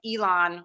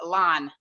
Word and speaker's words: Elon: tour of Elon or Elan, whichever you like to pronounce it.